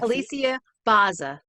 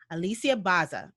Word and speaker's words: Bozza: i start and i totally forgot um please pronounce your first name for me your holy sia alicia alicia baza alicia baza okay and the reason i do that i